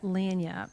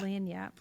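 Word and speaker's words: lagniappe: little extra yeah yeah lanap what do you call it lanap l the g is silent l a g ni I a PP little Lan Yap God it's like a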